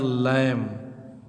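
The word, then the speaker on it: lamb: उच्चारण नहीं होगा, यानी यम के बाद बी दिया है तो बी का उच्चारण जो है साइलेंट हो जाता है, लैम माने मेमना।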